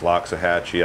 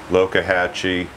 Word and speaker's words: Loxahatchee: Well, the Loxahatchee, I've heard it said many different ways, Loxahatchee, I guess that's the white pronunciation, Loxahatchee. Is an indigenous pronunciation, and I have been